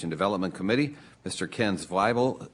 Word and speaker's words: Zweibel: Ken Zweibel, I'm reminded here by my staff, rhymes with Bible.